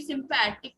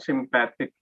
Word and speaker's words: sympathetic: person will also be sympathetic to other person. Oh, good point. But Bhavya, you were mispronouncing sympathetic. Say sympathetic. What is the adjective of sympathy? Sympathetic, not sympathic.